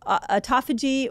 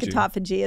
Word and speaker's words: autophagy: way of saying it people say either call it um autophagy or autophagy people say it different you tell me I said it wrong I kind of landed on autophagy I feel like autophagy is the best way to say it autophagy fasting what's that